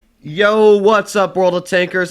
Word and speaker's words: Yoh: about the Mark 6 YOH or as people have been telling me in the comments pronounced the Yo as I think it was the name of the family that tried developing these vehicles.